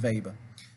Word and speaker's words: Weber: And we go by the unit Weber. Or Weber, depending how you want to say it, but it's pronounced Weber.